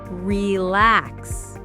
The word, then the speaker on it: relax: Most two syllable verbs have stress on the second syllable.